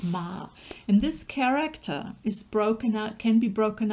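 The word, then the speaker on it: 妈: you've got here is the character for mother pronounced ma and this character is broken up can be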